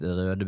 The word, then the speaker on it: Røde: It's written like this, Røde. We pronounce it Røde because this letter... oh, you see the mouse now. This letter here is the Norwegian Ø. And this reads Røde for us Norwegians.